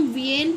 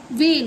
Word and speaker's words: vein: तो इसमें जो वर्ड है जैसे कि हाँ VEIN, तो इसे हम वेन पढ़ते हैं, ना इसे हम वीएन पढ़ेंगे ना इसे हम वीन पढ़ेंगे, इसे हम वेन पढ़ते हैं।